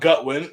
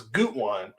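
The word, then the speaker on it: Gutwein: It's not Gutwin, it's Gutwine. All right, Gutwine.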